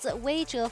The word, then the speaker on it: Weizhe: It is Weizhe for the top lane, Shaka for the jungle, Nuli as the mid laner.